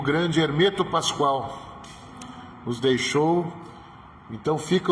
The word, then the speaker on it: Hermeto Pascoal: E ele sempre e ele dizia nas aulas: "Não me chamem de Hermeto, meu nome é Hermeto Pascoal". Hermeto Pascoal. Então fica essa correção para pronunciar corretamente o nome do mestre Hermeto Pascoal.